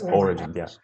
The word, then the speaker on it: origins: The origins. Yeah, the stress, origins.